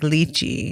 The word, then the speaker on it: Lichy: wow yeah wow yeah so it's spelled like you can probably picture it more as a Turkish name with the way it was originally spelled which was l i c I think okay like leachy but it is really